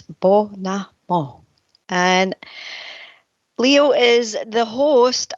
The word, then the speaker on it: Bonomo: And I think I got it right because Tina actually told me how to pronounce it. So, I apologize for making a mess of it last week, but it's Bonomo.